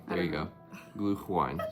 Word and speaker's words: Glühwein: Glühwein. Glühwein. There you go. Glühwein. Sounds like blue wine or something.